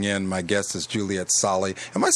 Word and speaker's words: Sali: Again, if you're just tuning in, my guest is Juliet Sali. Am I saying your name right, Juliet Sali? Yeah, pretty much. I always say Sali rhymes with barley.